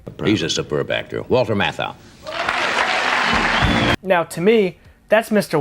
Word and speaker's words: Matthau: then to see Walter Matthew I'm I think that's how it's pronounced it's like a t it's like a h-a-u I'm assuming it's Matthew he's a superb actor Walter Matthau now to me that's